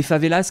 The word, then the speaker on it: favelas: Rio, je pense que c'est l'une des plus belles villes au monde, entre la mer, entre les favelas qui donnent, on va pas prononcer le S, mais qui donnent beaucoup